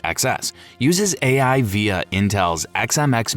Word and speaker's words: XeSS: Intel's XeSS, pronounced XeSS, uses AI via Intel's Xe Matrix units to upscale from lower resolutions.